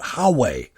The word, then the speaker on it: Huawei: Huawei, H-A-U-W-E-I, and that's not the way it's spelled. That's just the way some American decided to say it.